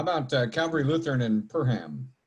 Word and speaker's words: Perham: uh calvary lutheran and perham is that how you say it and let's see uh dennis so it's pronounced purim one of the things